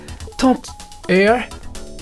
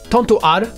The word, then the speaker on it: Tant-R: Puyo Puyo, Dark Edge, Tant Air, Tantohar en japonais, parce que Tantohar, je sais pas comment on prononce ça, mais c'est Tantohar en japonais, Virtua Fighter, Stack Columns, Ichidan R, Puyo Puyo 2, Dottori-kun.